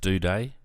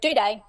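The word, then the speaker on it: Doedee: Is that how it's actually pronounced, Duday? Yep, Duday.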